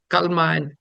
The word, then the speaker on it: Kalma: And if they claimed they were Muslim, they had to recite what South Asians called Kalma. And the Arabs probably pronounce Kalima.